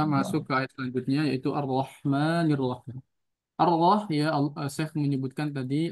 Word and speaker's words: الرحمن الرحيم: Ar-Rahmanir Rahim.